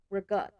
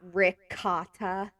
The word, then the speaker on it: ricotta: It's prosciutto, prosciutto, or people say mozzarella, and I'm like, no, it's mozzarella, or it's ricotta, not ricotta. Oh my god, that will like trigger me if someone says ricotta.